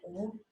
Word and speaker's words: Om: called Om, Ha, U, Ma, and it is pronounced like Om, and we say Om.